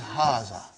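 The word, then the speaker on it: هذا: explained in the key also so it is haazah okay means this and means a house are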